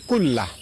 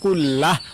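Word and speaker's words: كله: আল্লাহুম্মাফিরলি জামবি কুল্লাহ। আমি আবারও বলছি। আল্লাহুম্মাফিরলি জামবি কুল্লাহ। লাস্টে হা উচ্চারণ কুল্লাহ। অথবা কুল্লাহু। এভাবে পড়বেন।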